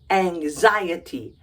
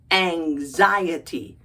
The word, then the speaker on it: anxiety: you are suffering from a NX i e t y that one looks tricky it's pronounced Angy anxiety aniy say it with me anxiety emphasis on the second syllable anxiety what's anxiety it's